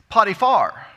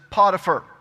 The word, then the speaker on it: Potiphar: was so - Potiphar now the correct pronunciation is putti far but that sounds funny and that's not the way that we pronounce it here in the south so I'm going to continue to pronounce it Potiphar all right now Potiphar